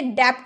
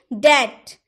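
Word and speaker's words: debt: टी के पूर्व यानी कि टी का पहले अगर बी आए तो बी का उच्चारण नहीं होगा। जैसे कि दैट। क्या आप इसे डेप्ट बोलते हैं? डेप्ट। नहीं डेप्ट नहीं होता है। डेप्ट नहीं बोल सकते। क्या बोलेंगे? दैट। दैट डेप्ट नहीं दैट यानी कि ऋण डाउट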